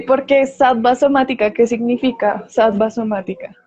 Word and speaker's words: sattva: modalidad a la cual todos apuntamos que es sattva, sino que lo pronunció sattva por efectos de pronunciación en el español.